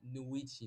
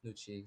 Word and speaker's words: Nuichi: I would say from the right side, Vendetta name, Cyrenix, Noctron, and Nuichi, not Nuchi. So guys, that's just her name. That's her how to say her name, Nuichi.